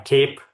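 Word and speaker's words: CAIPE: And then uh uh around July this year uh we uh open sourced uh this effort as uh uh cape pronounced as cape of a superhero u standing for uh community AI uh platform engineering.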